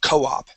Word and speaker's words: co-op: it's a combination so it's a Cooperative we call it a co-op try that Co Co-op